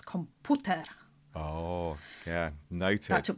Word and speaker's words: komputer: It's komputer in Polish because the U's pronounced differently, lovely.